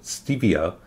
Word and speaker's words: stevia: and what is steviaside stevia is the plant some people pronounce it stevia because the spanish word for it is stevia between you and me